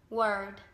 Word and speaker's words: word: Còn cái chữ D ấy, thì mình sẽ đọc là Work. Word.